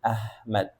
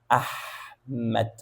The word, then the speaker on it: Ahmed: So, that's exactly the sound of H. People write down my name like this. And that's actually not the right way to pronounce my name. They say Ahmed.